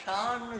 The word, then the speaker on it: shown: SHONEன்னா ஷான்னு சொல்லணும், SHOWNன்னா ஷோன்னு சொல்லணும்.